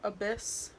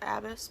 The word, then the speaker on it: abyss: that to pick up abyss I always pronounce the abbess but Jacqueline corrected me in one of her videos so I'm just gonna